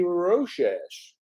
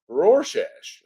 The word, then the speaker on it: Rorschach: hello everyone we're chatting with each other lady roshesh Rorschach I butchered that and I apologize someone if they